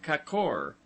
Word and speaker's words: kakor: word, as kor, gorges, pronounced as though written kakor, the a having the sound of a in sofa, lions, dodon.